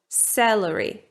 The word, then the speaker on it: celery: So, that's for example how I pronounce it: 'salary', 'celery'. But I'll just remind you that it is different in different accents.